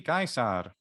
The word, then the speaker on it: Caesar: you would say luki so uh so julie gaisar away where are the odds of march all